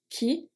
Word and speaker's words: qui: Qui, we've seen this one in the examples. Qui, the U is silent. We just pronounce Q-I. Qui, that's it.